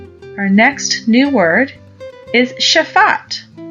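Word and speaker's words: שפט: down yashaf our next new word is shafat shafat is spelled Sheen Faye Tet do you remember in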